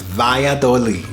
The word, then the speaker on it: Valladolid: and via the lead we are sorry we were pronouncing it wrong at the beginning of this video but we got it it's valladolid so don't come first